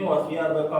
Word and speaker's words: wathiyabak: Nah, di sini wasiyabaka fatohir. Kalau misalnya pada di sini kan bacanya wasiyabaka fatohir. Kalau misalnya berhenti di sini ya. Wasiyabak ya. Jadi jangan dibaca wasiyabaka. Nah, intinya kalau misalnya pada